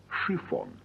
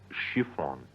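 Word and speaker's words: шифон: chiffon the material looks like Shon but is pronounced shifon shifon now I understand why you say on and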